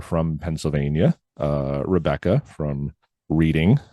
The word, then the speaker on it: Reading: Pennsylvania uh Rebecca from Reading Pennsylvania or reading as she says I'm supposed to pronounce it uh Becky from Pittsburgh